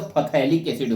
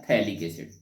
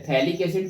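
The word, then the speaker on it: phthalic acid: नहीं कर रहे हैं स्पेलिंग वाइज पढ़ेंगे तो फैलिक एसिड हो जाएगा लेकिन बोला जाता है थैक एसिड य है थैक एसिड च इ आईयूपीएसी अकॉर्डिंग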